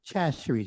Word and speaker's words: Chachere's: say, you do not pronounce it, you do not pronounce the Chachere's. You don't get the CH sound. You use like the SH sound when you enunciate it.